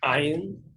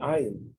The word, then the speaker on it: ayin: No, we pronounce the ayin like an aleph, but they pronounce the ayin like it's coming from your throat, like they speak in Arab countries.